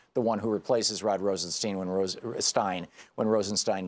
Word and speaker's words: Rosenstein: Rosenstein and who is whose name is always pronounced Rosenstein on the fox news network in right-wing hate radio but it's Rosenstein I think they're trying to make it sound